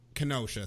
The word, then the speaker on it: Kenosha: I believe it's spelled Kenosha, but I don't need to go any further. Kenosha, thank you.